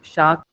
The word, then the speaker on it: chaque: For example, the word for every day in French, it says chaque jour. Every day. Chaque jour. This QUE, the pronunciation is like almost equivalent to K in English.